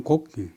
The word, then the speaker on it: 곡: 그 다음에 또 출필곡, 직접 고한다 할 때는 발음을 곡.